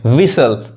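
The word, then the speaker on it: whistle: देखिए इसको अब कैस्टल नहीं कहेंगे, कैसल, टी साइलेंट होता है, कैसल, जिसका मतलब क्या होता है, किला। उसी तरह देखिए विसल मतलब क्या होता है, सीटी।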